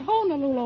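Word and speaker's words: Honolulu: see the sights of honol Lula they pronounced it honol Lula over there when I was there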